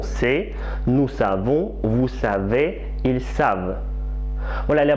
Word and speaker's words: savent: savent oh là là beaucoup d'étudiants qui oublie de dire sable de prononcer le voeu sonore quand ils comptent double à la troisième personne plus riez lui il sait mais ils savent elle sait mais elles savent le deuxième vers se connaître